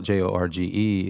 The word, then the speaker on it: Jorge: But, see, George, the way I spell it, J O R G E, is Jorge in Spanish. It throws everybody off because you pronounce it George and everybody's looking at Jorge and it's like, what the hell is wrong?